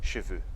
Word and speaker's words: cheveux: Bom, em francês, cabelos é cheveux e cavalos é chevaux. Peraí, você disse a mesma coisa. Não, calma lá. Cabelos, né, no plural, cheveux, termina com EUX. E cavalo, chevaux, termina com AUX. Então, tem uma diferença na pronúncia.